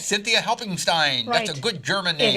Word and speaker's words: Cynthia Helpingstine: on radio friends and i hope i pronounced your name right this is cynthia hope helping Stein right that's right Cynthia helping Stein that's a good German